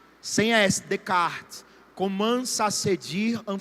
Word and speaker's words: Descartes: Descartes não, escutando S. Descartes. Sem S, Descartes.